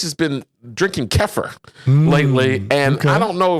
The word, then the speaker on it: kefir: Then kefir? Than what you just described. Kefir rhymes with heifer.